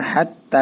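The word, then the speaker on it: حتى: হিয়া জবর ইয়া হিয়া হাতা জবর হাত তা খারা জবর তা হাত্তা এখানে এক আলিফ টান মিম ত জবর মাত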